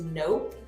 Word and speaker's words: Knope: So her name is Nope. It's spelled Nope.